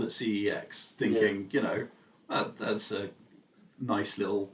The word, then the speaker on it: CeX: And the shop, I would call the shop CEX or CEX. But I have heard there's a different pronunciation, and this has come from Wikipedia of all the reputable sources that are out there, that it is described as sex.